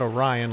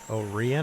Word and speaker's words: Orion: city's name it's uh it's not orion like the constellation it's orion o-r-i-o-n illinois oh rian i hope i'm pronouncing that right gene thanks a lot